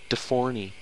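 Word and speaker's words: D4NY: ny well i mean his name is spelled d4 ny he's de forney suck someone just stole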